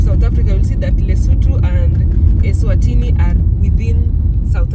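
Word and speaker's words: Lesotho: capital city of lutu we used to pronounce it as Leo but apparently it is lutu so we approach we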